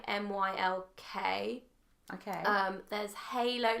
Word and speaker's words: Mylk: And literally, I don't even understand how there's no milk in there because it's so creamy. It's amazing. So there are brands out there, like there's a brand called Milk, spelled with a Y, MYLK.